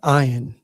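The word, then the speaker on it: ע: Now in it says here is silent and generally speaking that's the way it uh is pronounced today. But they believe that in previous times it it had a guttural sound kind of like a g sound.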